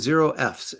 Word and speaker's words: Zero Fs: much two bucks and zero FS as you know it rhymes with bucks Henry jerck is here